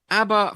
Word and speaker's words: ABBA: So rather than called they changed their name, and hopefully it rhymes with Jabba, because we're having a bit of a jabber about ABBA tonight.